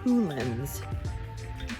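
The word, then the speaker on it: Cuillin: I believe it is pronounced Coolins. If it is wrong, again, I apologize.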